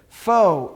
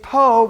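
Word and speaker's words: פה: Fo is the word for here. It's po, but sometimes dots are going to drop out. Remember, it's still a pay. Doesn't change the meaning. It's pronunciation.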